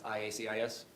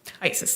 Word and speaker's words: IACIS: That's IACIS? IASIS, yes. You can call it ISIS? Yes. How do you say it? IASIS.